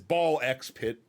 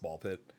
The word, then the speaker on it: BallXPit: It's ball x pit technically. I'm pretty sure it's just pronounced ball pit. It's just ball pit.